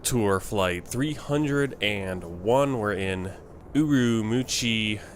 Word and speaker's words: Ürümqi: flight 301 we're in uru muchi China that's more how they say it that's more how you say it in Chinese we're going to be